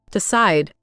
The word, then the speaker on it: decide: Decide. Perfect. Decide just jumps out. Listeners, decide. Feel that push on the second part. It's not decide or decea.